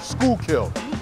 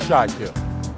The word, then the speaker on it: Schuylkill: That's pronounced Schuylkill, not Schuylkill. Not Schuylkill. Not Schuylkill. Schuylkill.